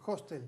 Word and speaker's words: hostel: u hostel como quieras aspiran la H hostel Sí porque noté no se dice hotel pero acá sí a